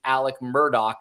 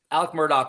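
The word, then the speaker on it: Alec Murdaugh: that does not think the pronunciation Alec Murdock is strange that I found out last night it is uh Scottish uh the the uh you know Genesis of that pronunciation so uh but we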